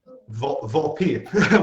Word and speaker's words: Volpe: Make sure I'm pronouncing that right. Volpe. Volpe.